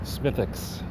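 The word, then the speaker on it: Smithwick's: any more there you go how do you pronounce that old ireland's oldest ale do you think smith works smithics just in case you ever go there i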